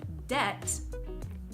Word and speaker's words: debt: long time ago when people would pronounce the B in these words but over time this has changed and we no longer